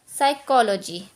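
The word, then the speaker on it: psychology: जैसे कि हम यहाँ पे देख लें, एस से पहले हमारा पी है तो हमारा साइलेंट है, तो हम इसको पढ़ेंगे साइकोलॉजी। अब एस से पहले पी हमारा है, हमारा साइलेंट, इसको पढ़ेंगे साइकेट्रिस्ट।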